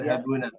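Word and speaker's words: يذهبون: Tidak yadhhabuna. Panjangkan juga ini cara bacanya.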